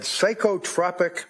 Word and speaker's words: psychotropic: She also had psychotropic medication with adverse reaction.